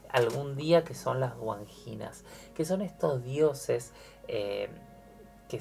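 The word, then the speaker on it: Wandjinas: Pongan guanginas, que se escribe W, o sea, W-A-N-D-J-I-N-A-S, guanginas, y vean lo que son esas imágenes y se van a sorprender.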